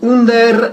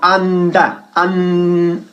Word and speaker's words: under: Ojo que no decimos under, sino anda. Anda. ¿Ok? Muy importante la pronunciación de anda.